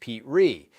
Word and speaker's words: Petrie: He starred in the pilot himself, playing Rob Petrie, pronounced Pete Ree, and filmed it as a single camera show in New York with no live audience.